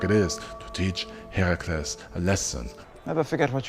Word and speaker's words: Herakles: wife Hera, which is why it is important to not call him Hercules, but Herakles. Well, to be precise, it's Heracles and Hera is Hera, but you know, let's keep it simple with the pronunciations and call them Hera and Herakles.